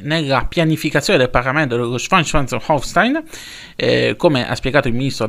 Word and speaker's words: Schleswig-Holstein: Vedete come lo pronuncio bene. Schleswig-Holstein.